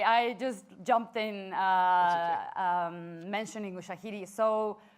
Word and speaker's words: Ushahidi: Sorry, I just jumped in mentioning Ushahidi. So Ushahidi is USHAHIDI.